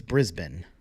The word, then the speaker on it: Brisbane: with that Brisbane Australia you see I said it right it's Brisbane I know how to say it right Christmas cards 5 by